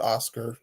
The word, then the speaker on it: OSCR: They call it Oscar. It's acronym OSCR.